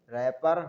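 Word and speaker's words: wrapper: सक रेन जी silent रैपर लपेटने का कागज वेडनेसडे ठीक है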